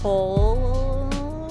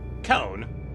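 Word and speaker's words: Cohn: And the director is Michael Cohen. How do you say that last name? Cohen? Cohen? Is there an L in it? No, okay. C-O-H-N. Cohen? Cone. Michael Cone. What? Why isn't it just C-O-N-E, man?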